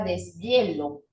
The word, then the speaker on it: deshielo: Porque cuando yo leí palabras como inhalar, deshonesto, ahí la H resulta ser una H muda. Pero yo te pregunto, cuando usted leyó la palabra deshielo, ¿usted siente que esa H es muda?